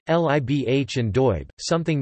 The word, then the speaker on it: libh: beta, such as sibh, libh, and doib, something not found in the rest of Connacht. These words would be pronounced respectively as shiv, live, and dofa.